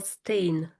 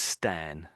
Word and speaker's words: Stan: Sebastian Stan or Stain? No, that is Stan. Stan.